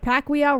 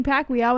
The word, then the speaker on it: Pacquiao: Floyd Mayweather wants 2 fights in 2020 with Pacquiao rematch and a UFC opponent. Boxing superstar Floyd Mayweather Jr. is reportedly planning to fight twice in 2020 with a rematch against Manny Pacquiao and another crossover bout against...